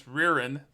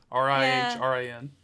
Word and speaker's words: Rihrin: She plays Ririn. I believe that's how you pronounce it. Rihrin.